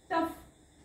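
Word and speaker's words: tough: यु जी एच फ ओ यु जी एच रफ टफ okay रफ टफ हे जे शब्द आहेत याच्यामध्ये फ चा उच्चार होतो ओ चा होत नाही कारण दुसरं एक रूल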